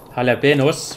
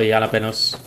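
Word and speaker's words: jalapeños: but I think it's jalapenos. Feel free to correct me if I'm wrong. I'm pretty bad at pronouncing certain Spanish words here and there. I think J is pronounced kind of H.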